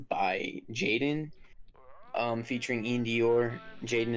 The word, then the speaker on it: JXDN: Jaden is spelled JXDN.